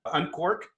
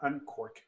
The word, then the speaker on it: Unqork: training this week we're at uncork on court on cork yeah what's it um it's spelled with a q q yeah uh unquark uncork on cork uh